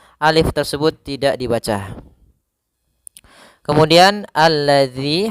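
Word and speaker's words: الذي: Kemudian alladzi, hati-hati dalam pelafalan zal. Di sini ada huruf zal, bukan huruf zai. Ya, kebanyakan kita kadang-kadang membaca huruf zal dengan huruf zai. Misalkan allazi, allazi.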